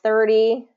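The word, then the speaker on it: thirty: So 30, D. So making sure that get that D sound. So listen for this third D, and it's going to be first syllable stress.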